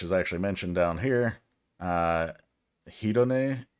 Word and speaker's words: Hedone: Hedone, I think is how you pronounce that.